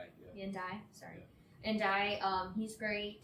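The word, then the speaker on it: Ndiaye: Indai andai. Indai, sorry.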